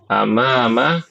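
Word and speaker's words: أمام: Khalfa belakang belakang nih ibu-ibu bedakan antara amama sama Nah apa ini bacanya imam imamun bedanya dari mana ya alif ini bedanya dari hamzahnya ya amama hamzahnya di atas imamun hamzahnya di ba di bawah ya, jangan sampai ketukar. Baik, Ibu-ibu ini karena sudah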